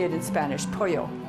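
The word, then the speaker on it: pollo: is polio when you say it in Spanish poyo it's spelled P o ll why would you want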